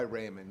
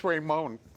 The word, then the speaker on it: Raymond: Yeah, so Raymond. So Raymond, I go by Raymond. Yeah. That's cool, it's easier. I first thought it was Raymonde. Different people pronounce it different ways.